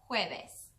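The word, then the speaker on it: jueves: too the word for thursday in spanish is hueves so pretend you're making just the littlest bit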